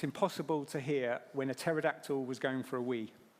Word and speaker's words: pterodactyl: to hear when a pterodactyl was going for a wee? This is classy. I'm sorry, children. Anyone? No? It's because the P is silent.